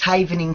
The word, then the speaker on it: Havening: it and if I am I mispronouncing it what is havening technique am I saying that correctly yes that's correct it's havening technique okay the original event